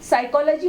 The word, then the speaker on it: psychology: PSYCHOLOGY का उच्चारण साइकोलॉजी हो जाता है।